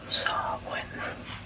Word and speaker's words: Samhain: Samhain is a Gaelic word pronounced Samhain.